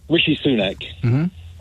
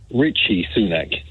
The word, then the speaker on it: Rishi Sunak: Rishi Sunak is often called Richie Sunak.